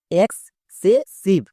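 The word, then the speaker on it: excessive: এবার একসঙ্গে উচ্চারণ করো, এক্সেসিভ, এক্সেসিভ।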